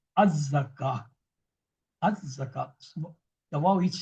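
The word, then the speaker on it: الزكاة: But if I'm stopping, this ta will change into ha. This ta will change into round ha. We will say az-zakah.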